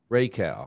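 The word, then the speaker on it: Rakau: ipa from matchless um i think it's pronounced raku raquel rocco me this ray cow ray cow ray cow i looked it up that's the type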